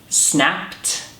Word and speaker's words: snapped: Shoved, opened, snapped, or landed? Snapped. Snapped has a t sound at the end.